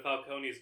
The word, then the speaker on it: Falcone: testifying against mob boss Carmine Falconee or Falcone they pronounce it in this film for some reason.